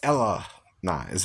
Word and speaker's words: Hellenized: They don't have an H. It's Ellenized, right? The H is a silent letter in the Greek, right?